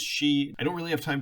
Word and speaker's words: Xi: edit this video that I have repeatedly mispronounced the Chinese president's name as Z the correct pronunciation is she I don't really have